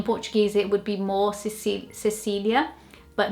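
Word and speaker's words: Cecília: it would be more Cecilia. but not Cecilia. It wouldn't be spelled out. I think the Lia is a lot more spelled out in the English pronunciation than in the Portuguese one.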